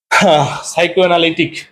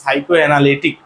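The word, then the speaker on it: psychoanalytic: আর এরপরে দেখো, সাইকো অ্যানালিটিক মানে এই বানানটা মনে রাখবা হচ্ছে কেমন করে? পিসি চলো যাই রে, এর উচ্চারণ হচ্ছে কি? সাইকো অ্যানালিটিক।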